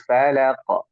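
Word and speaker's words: فلق: Bu Jangan ditahan sini kalau ibu bacanya seperti al eh Qul azubirabbil Falaq nah tidak memantul yang seharusnya kita baca Falaq itu mantul seperti ini Qul auzubirabbil Falaq falq Coba ulangi Qul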